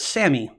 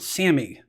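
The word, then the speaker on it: SAMe: Okay, the first one is called Sammy. Now, just like the word Sammy, but this is pronounced S-A-M, small e. They say it's Sammy, and this particular nutrient acts as an analgesic, as a pain reliever.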